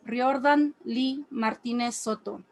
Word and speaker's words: Riordan Lee Martinez Soto: For those not on the know, my name is Riordan Lee Martinez Soto. Roll your R's, get the acento right. Don't come at me with your gringo version because you can't be bothered to learn.